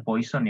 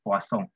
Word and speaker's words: Poisson: Bacanya bukan Poisson ya, Poisson. Poisson ini nama orang Prancis.